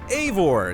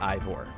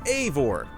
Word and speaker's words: Eivor: Eivor is pronounced Eivor. It's not Ivor. It's Eivor.